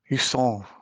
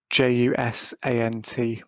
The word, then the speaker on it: Jusant: I've also been playing, and I'm going to butcher the pronunciation of this because it's a French word. It's a Jusant, but spelt Jusant, which has just come on Game Pass, which is the climbing game.